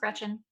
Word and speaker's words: Greczyn: I'm Alice Food on Twitter, Alice Greczyn on Instagram, and that's how it's pronounced. It looks crazy, but it's just pronounced Greczyn.